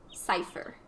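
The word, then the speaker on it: Seifer: Cypher.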